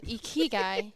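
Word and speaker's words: ikigai: what's it called again e Kei it's spelled i k i g AI okay I won't remember that but e guy did I say that righty okay yeah e guy I have to do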